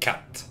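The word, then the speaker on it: katt: word right here is pronounced like cut just like cutting your hair obviously it means cat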